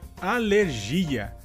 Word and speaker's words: alergia: Em português seria alergia. A diferença entre essas duas palavras seria que, em espanhol, a sílaba tônica seria ler e, em português, a sílaba tônica seria gi.